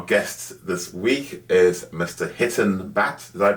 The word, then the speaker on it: Hiten Bhatt: podcaster and our guest this week is Mr hiton Bat did I pronounce that right correct okay hon is an